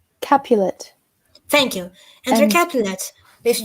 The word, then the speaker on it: Capulet: Capulet.